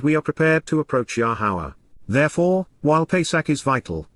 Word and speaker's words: Yahowah: being concerned about, and regarding moving toward, Yahowah, Yahowah, the proper pronunciation of Yahowah, our Eloah, God as directed in his Torah,